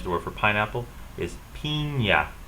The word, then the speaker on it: piña: is piña, piña.